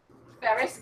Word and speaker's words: Ferris: Ferris, Ferris, like Ferris Bueller's Neighbor, and Cuozzzo.